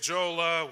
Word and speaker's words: Djola: morning my name is Jola welcome to how's that yes that's how you pronounce it the D is silent welcome to opening the